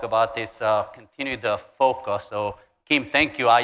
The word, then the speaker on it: FOQA: didn't know I'm like I kept pronouncing like f-o-q-a this morning we were jogging and uh Joe asked me it's like what is that fo and I'm like I couldn't even pronounce it so Focus sounds pretty good uh make acronyms acronyms